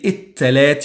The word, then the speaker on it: التلات: So again with the alif lam, the article, the definite article, il, and you say التلات, you don't pronounce the lam.